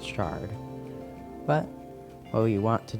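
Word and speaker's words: sherd: And yes, I know they're spelled with an E, it's still pronounced shard.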